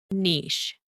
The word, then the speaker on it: niche: This word originates from French. It means a specialized segment of the market. It is pronounced niche. Niche.